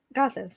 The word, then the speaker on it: Gothos: It's Gothos, yeah. Okay. I Today just wanted to check the pronunciation. For today, we're saying Gothos. Okay, Gothos.